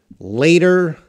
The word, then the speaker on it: later: Jihan, later, letter. Later, letter. That's how you pronounce them.